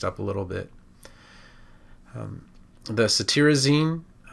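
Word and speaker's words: cetirizine: a little bit the satyrizine it's spelled t-i-r but you pronounce it t-e-a-r so satirizing you can think of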